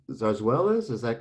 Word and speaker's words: zarzuelas: so in spain they had these things called zarzwell is is that correct it is yeah okay could you say it for me again because i i often mispronounced no that's okay sarsuelas zarzuelas are um spanish operas they're like um